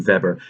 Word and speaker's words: Weber: theorist named max weber it's it's it's written weber it's pronounced in german feber social theorists dislike the